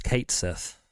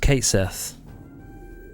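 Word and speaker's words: Cait Sith: there's no there's no there's no argument to be made there it's Kate Sith okay it's just Kate Sith okay let's watch this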